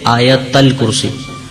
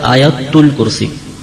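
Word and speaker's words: آیتُ الکرسی: یہ عوام الناس میں تلفظ کہہ لیں یا اعراب کی غلطی کہہ لیں، یہ غلط طریقے سے ہم کہتے ہیں آیت الکرسی. صحیح لفظ ہے آیت الکرسی، تا پہ پیش پڑھا جائے گا.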